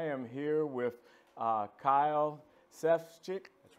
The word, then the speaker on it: Sefcik: Jackson and I am here with uh Kyle Seth's chick that's right got it right all right brother